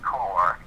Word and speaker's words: Corps: So the book is called The Secret Corps, and Corps is spelled like Marine Corps, C-O-R-P-S, right?